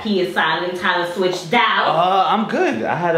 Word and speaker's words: Pswitch: That P is silent.